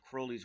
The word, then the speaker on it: Crowley: This book has influenced not only all of Crowley's work, Crowley. It actually was Crowley to rhyme with Crowley, but in America we like to say Crowley.